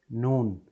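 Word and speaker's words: נ: After that we have the letter Nun.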